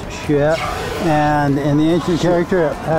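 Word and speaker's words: 雪: It's pronounced xue.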